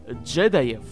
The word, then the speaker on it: джедаев: В отличие от джедаев, или лучше сказать, джедаев, ударение на первый слог эпохи войны клонов, стеснявшихся